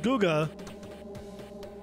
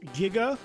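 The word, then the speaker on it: Guiga: Well, no, you say like it's Gui like guitar, so the U is silent. So it's Giga, not Guga.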